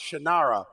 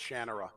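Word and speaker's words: Shannara: listen if people can figure out how to pronounce shinara they're going to be able to figure out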